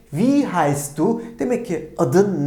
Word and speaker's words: wie: ki iyi be ne demek ki bu We şeklinde telaffuz ediliyor değil mi Wie heisst du Demek ki